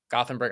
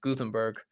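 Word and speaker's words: Gothenburg: be in in gothenberg I think it's pronounced guthenberg I think uh I'll find out when I get there is it one of those is Swedish a language where the th is not is like Gutenberg you know what I mean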